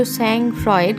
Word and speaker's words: sang-froid: এটা মানে লেখা আছে যদিও sang-froid, কিন্তু উচ্চারণ হয় sang-froid, ঠিক আছে।